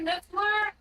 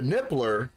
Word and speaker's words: Niffler: Oh, I rescued a niffler. I got my very own niffler. You rescued a nippler.